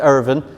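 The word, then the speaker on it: Ervin: I love that because it's spelled Irwin now, but it was pronounced Irvin, and it's still pronounced Irvin down in this pocket of County Limerick.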